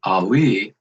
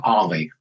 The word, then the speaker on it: Alli: your name correctly well the last name is actually pronounced ali when you pronounce it ali it's the arabic pronunciation last name is a-l-l-i ali would be just one l ali so it's ollie kind of like kind of like stan and ollie yeah i think of volley ollie yeah okay and entero